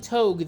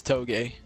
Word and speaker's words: Toga: pronouncing your name right I've been saying togue the entire day am I saying that right oh everyone does that uh it's toga toga all right I apologies